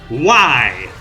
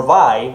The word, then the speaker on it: Viy: already heard about it why if that is the way it's supposed to be pronounced this card makes a